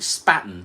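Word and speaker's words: Spaten: do spon or Spartan I'm not calling it Spartan I'm calling it spaton B it's a Munich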